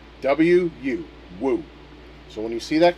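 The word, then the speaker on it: 武: The one on uh Kung Lao is Chinese for warlike and it's pronounced woo. Wu woo.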